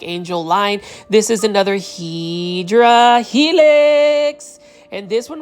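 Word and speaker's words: Hedera helix: Line This is another HRA Helix and this one right here I believe is the batina um English ivy or the correct way to say it is hyera Helix um for my viewers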